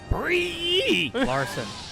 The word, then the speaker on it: Brie Larson: whoa oh nice the master says you're all pronouncing it wrong it's brie Larson as someone photoshop's of Pepe frog on that